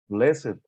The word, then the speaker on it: blessed: The following ed words used as adjectives are pronounced with id. Aged, oh no, aged, blessed, crooked, naked, wicked, wretched. Excellent.